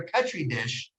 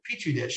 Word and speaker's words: petri dish: And that's so they're like a petri dish of or petri dish, I think is the proper pronunciation.